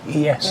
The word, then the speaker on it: Lewes: I was never quite sure how to pronounce it. It's Lewes. Yes, yeah.